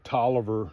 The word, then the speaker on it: Taliaferro: You see the Toliver, the way it's spelled there, T-O-L-I-V-E-R, it's actually supposed to be spelled, if you looked at it, you would probably say Taliaferro.